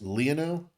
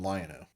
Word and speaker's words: Leono: It's actually pronounced Leono, but everybody locally calls him Lion-O.